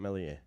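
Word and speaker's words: Meslier: to me about ilam melier well I love MZ silent s honestly I think he's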